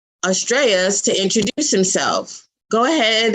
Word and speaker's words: Astrais: So your name, how do you pronounce it? Astrais.